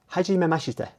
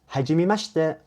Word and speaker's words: hajimemashite: to meet you, is hajimemashite, hajimemashite, hajimemashite. So it's like it's kind of condensed. So it's hajimemashite, hajimemashite, hajimemashite.